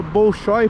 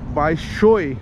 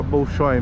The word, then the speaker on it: Bolshoi: de teatro baixou e quem Russo nunca se fala Bolshoi porque na língua russa não se pronuncia os dois Oz na mesma palavra o ossoa tem som de ou quando é tônico né pai shoei mas aqui é Brasileirão daí fica Bolshoi mesmo ó aqui tem a